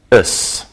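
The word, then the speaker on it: -ous: an adjective can end with o us pronounced us for example it is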